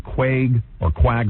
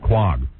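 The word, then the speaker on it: Quogue: Quag. Quag? Quag. Yeah. You spell it Q-U-A-G? That's misspelling. Spelling. Yeah, these guys screw me up every day. It's Q-U-O-G-U-E, isn't it? Yeah, that would be Quag. Right.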